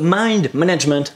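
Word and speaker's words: Mind MGMT: allons continuer avec mind MJ MT ça se prononce mind management en fait voilà un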